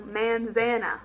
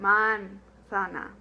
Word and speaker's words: manzana: So, a good way to contrast and really emphasize your correct Spanish pronunciation is try to do a really bad East Texas pronunciation of this word. You know, manzana or something, and then really emphasize the correct pronunciation, manzana.